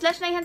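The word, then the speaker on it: Lesch-Nyhan: It's Leishmanian syndrome, everybody.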